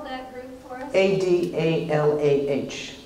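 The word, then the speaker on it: Adalah: A-D-A-L-A-H, just like it sounds, Adala.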